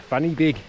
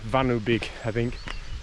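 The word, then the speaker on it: Fan y Big: back end of um as the English call it funny, but uh the Welsh pronounce it vanig or whatever.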